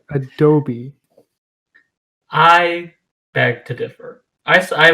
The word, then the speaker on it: Adobe: So Except for the fact that Adobe is a company and it's pronounced Adobe.